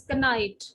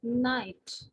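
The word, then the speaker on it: knit: n k n n k n i t is not pronounced as canite we are pronouncing it as knight right b i as in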